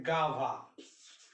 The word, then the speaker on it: guava: अब इसका एग्जाम्पल सोचिए, जैसे लिखना है गाभा, GUAVA गाभा, यू ए आया तो ये सब भी आएगा, निश्चित रूप से आएगा।